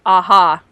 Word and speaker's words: aha: about how to pronounce aha she got it right that's how you're supposed to do it the stress is on the ha the stress is on the ha yep and i say aha yeah yeah this was